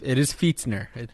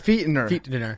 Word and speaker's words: Fichtner: He says Did you pronounce that correctly? It is Fichtner. Jake was freaking out trying to figure it out. I took like 20 minutes to find it out. Fichtner. Fichtner.